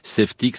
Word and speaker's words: Safetics: Avec le gilet de sauvetage, il faut aussi avoir Safetix. Safetix, ça s'écrit S-A-F-E-T-I-C-S.